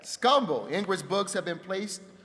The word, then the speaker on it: Scumble: one Denver Savvy and scumble did I say it right you said it right scumbo ingr books have been